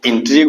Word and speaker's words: intrigue: INTRI tree, GUE को दोनों को बोलेंगे गो, तीनों को GUE, यानी U और E साइलेंट रहेगा, U और E साइलेंट रहेगा, G का खाली उच्चारण होगा। तो in plus torus हर्षिकार tree plus गो, तो इंट्रीग हो गया। तो इंट्रीग का संधि विच्छेद इन प्लस ट्री प्लस गो, गो का उच्चारण GUE, जिसमें कि UE अंत का साइलेंट रहेगा।